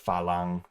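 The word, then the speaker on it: ฝรั่ง: They pronounce it like Falang or some shit like that.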